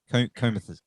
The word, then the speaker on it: Comethazine: Now, how do you pronounce it? Is it Comethazine? Comethazine.